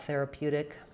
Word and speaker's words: therapeutic: So it's stressed on the pew syllable, and it's kind of a weird spelling with that EU. So it does have the p, y, and u sounds, pew.